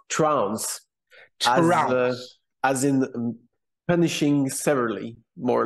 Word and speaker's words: Trounce: do I pronounce that name it's uh it's pronounced trans as in punishing severally more or less something